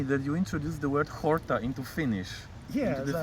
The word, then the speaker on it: horta: Horta. Horta is Because a verb or? in Greek you pronounce it horta, so it sounds like a Finnish word.